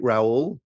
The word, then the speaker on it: Raoul: rhymes with my surname if you're English it's R pal or R pal Americans kind of get it right Raul um I'm sort of